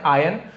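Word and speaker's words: iron: Turn into आयन, इसे आयरन नहीं पढ़ते आयन, आज हम लोग बोल देते हैं आयरन आयरन, बट आयन ऐसे पढ़ा जाता है, क्लियर है। बट आयरन मैन ऐसे बोलते हैं, बट इसका रूल है साइलेंट लेटर में आयन आता है। तो चलिए आयरन बोल दो तो भी सही, आयन बोल दो तो भी सही है।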